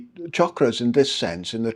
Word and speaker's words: chakra: And chakra means wheel. It's pronounced, by the way, like chocolate, chakra, not shakra. Shakra, as in sugar, is a kind of very Western pronunciation, but the word is chakra, as in chocolate.